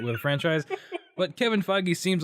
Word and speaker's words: Feige: How do you pronounce his name? I was looking up J.D. Dillard. Kevin Feige. Feige.